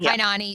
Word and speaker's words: Kainani: It is I'm pronouncing that right. Right. Kyani. Kanani Stevens.